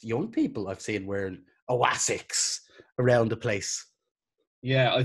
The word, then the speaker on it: Asics: Do you ever see people who get the big chunky Oasics? What are they called? How do you pronounce that? Oasics? I think it's just Asics.